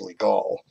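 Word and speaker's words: Légal: legal smell just like it sounds like it's pronounced League all French name I learned this when I was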